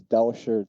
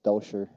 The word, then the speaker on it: Dauscher: It is Dauscher. Think of it German, so it's Dauscher.